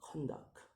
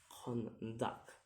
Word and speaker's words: conduct: For example, the word conduct, and the syllable is conduct, and the word and the syllables is gonna be if it's verb, it's in the back. If it's noun, it's in the first.